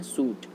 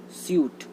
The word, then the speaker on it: suit: उसको हम पढ़ते हैं सूट, जो कि ये रहा। इसको हम सूट भी नहीं पढ़ते हैं, हम इसको पढ़ते हैं स्यूट, स्यूट।